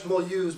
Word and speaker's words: Mulhouse: This is a huge train station, and we pronounce it in French Mulhouse, but it's Mulhouse.